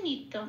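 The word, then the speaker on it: নিত্যং: আচ্ছা আচ্ছা বেদাশিনাম এইটা পেলাম আমরা তারপরে আছে নিত্যম ত জফলাতে একটু লাল দিয়েছি কারণ জফলা জ এর উচ্চারণ সংস্কৃতিতে হস প্লাস অন্তস্থ এক নম্বরে তালিকাভুক্ত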